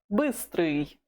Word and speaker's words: быстрый: Note this sound. Быстрый.